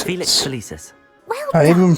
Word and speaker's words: Felix Felicis: Felix Felis. Felix Felicis. Well done. I even pronounced it right.